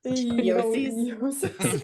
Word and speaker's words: Gnosis: My pet project is to get people to pronounce the GN in Gnosis like the GN in Yoki. Gnosis. Yosis.